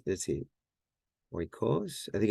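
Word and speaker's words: οἶκος: I think it's, let's see, oikos. I think it's, oh no, I think it's yeah, it's on the first syllable, right?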